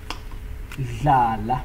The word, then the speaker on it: dlala: Dlala. So if you see D and L, you pronounce it.